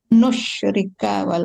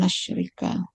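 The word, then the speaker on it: نشرك: Nusyrika bukan walan nasyrika.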